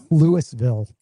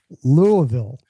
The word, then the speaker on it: Louisville: That word, think of it as only two syllables and it's very guttural.